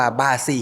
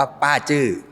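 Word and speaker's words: 八字: คือ แอป ชื่อ ว่า บ้าซี่ ฮีโร่ หรือ ถ้า จะ อ่าน ให้ ถูก ต้อง อ่าน ว่า ป้า จื้อ อ่า ป้า จื้อ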